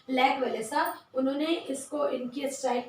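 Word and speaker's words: Lech Wałęsa: और उनका नाम था लैच वेलेसा। लैक वेलेसा जो आप बोल सकते हैं, उसको प्रोनाउंस कर सकते हैं, लैक वेलेसा।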